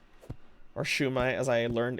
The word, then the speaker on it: shumai: That's how I was with shami or shumai as I learned it's pronounced.